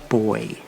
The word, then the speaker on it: buoy: In England, where I'm from, it's spelled the same, but it's pronounced boy, as in buoyant.